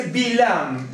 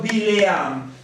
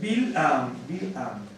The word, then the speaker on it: Bilam: Se dice Bilam, ¿no es cierto? En algunos casos lo había escrito Bileam, pero en general se pronuncia Bilam. Para no confundir voy a poner aquí. Así. Bilam. En algunas, incluso lecturas seriales le ponen Bileam por la Shva, ¿no es cierto? Pero es Bilam.